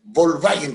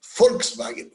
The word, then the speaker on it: Volkswagen: Porque en alemán la B corta o V se pronuncia como nuestra F. O sea, en alemán no es Volkswagen, como dice la gente en Chile, es Volkswagen, Volkswagen.